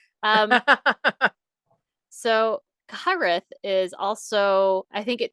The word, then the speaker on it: Cyhyraeth: I'm gonna spell it for you guys. It's Cyhyraeths, and it's Welsh.